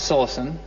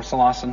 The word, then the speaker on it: psilocin: contain high amounts of psilocin, or psilocin, however you want to pronounce it, bruise bluish.